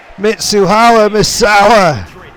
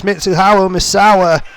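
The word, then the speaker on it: Mitsuharu Misawa: god ladies and gentlemen mitsuha misawa clearly the announcer did not know his name or could not pronounce it but it's mitsuhao misawa misawa is here the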